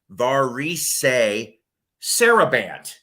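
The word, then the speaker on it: Varèse Sarabande: uh let's see here tim says it is pronounced varisay saraband okay see i i never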